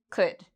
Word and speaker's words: could: Would, should, could. We have O and U. So afterwards, you don't need to worry about this L. It's silent. So we say would, should, could. Okay?